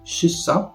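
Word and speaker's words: kyssa: niezręczne Chodzi mi o czasowniki shissa czyli całować oraz miejsca czyli sikać i tutaj właśnie różnią się jedną literą i wymową tego k Tak więc fraza ścissa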